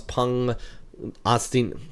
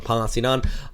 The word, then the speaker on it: Pangasinan: And then we kick off towards the north into Manila, 31 degrees across Pangasinan. I keep on saying it wrong. Pangasinan, 29 there for you.